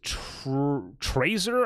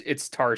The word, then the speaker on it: Tarsier: First one, I don't even know how to say it. It's Trazer, I think. Trazer Studios. I think it's here. Let me look it up. So it's spelled, or it's Tarsier Studios. Yeah, I think it's Tarsier.